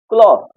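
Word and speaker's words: cloths: क्लॉथ। थ तो रहेगा, इसको थ ही पढ़ा जाएगा।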